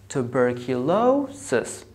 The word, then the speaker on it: tuberculosis: You have the second syllable, it has the secondary stress, and the fourth syllable has a primary stress. So you say tuberculosis, tuberculosis.